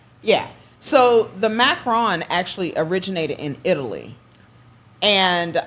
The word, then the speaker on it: macaron: Now do they call it macarons or macaroons? Macaron. Macaron. Macaron. Macaron. Yes. Okay. That's the actual uh correct pronunciation of it is macaron.